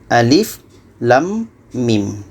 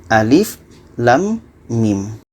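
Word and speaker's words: الم: kita harus baca satu-satu ini dibaca Alif yang ini dibaca lam dan yang ini dibaca Mim jadi dibaca Alif Lam Mim Alif Lam Mim dan berapa harganya untuk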